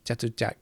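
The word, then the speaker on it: Chatuchak: That sounds like Jatujak. It sounds like it's spelled with J, but actually they spell it with a CH.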